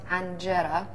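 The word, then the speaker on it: injera: My favorite food is anjera. It's actually pronounced anjera.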